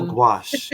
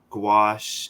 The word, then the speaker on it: gouache: you say it I've always wondered how you pronounce that word oh gouache yeah oh go ahead and watch it what